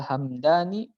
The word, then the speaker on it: Hamdani: Cody Abdul Jabbar Al Hamdani Al muhtaj jilid ini salah satu dari kalangan mu'tazilah ya dari kalangan mu'tazilah itu dibacanya Hamdani minimnya disukunkan nanti ada satu ini nama